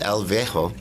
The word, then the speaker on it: El Viejo: One of the amazing films that is premiering here is El Viejo.